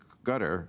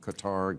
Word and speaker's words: Qatar: Cup being hosted in gutter is that I'm pronouncing that I've heard it different Qatar gutter I'm calling it well any place